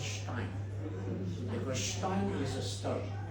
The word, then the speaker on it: Stein: but if you really want to pronounce it correctly, it's a German way. It's called Stein because Stein is a stone as I explained here.